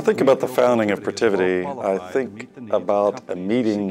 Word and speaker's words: Protiviti: Protiviti. Protiviti. Protiviti. The biggest challenge, once we had decided on our name, was pronouncing Protiviti properly.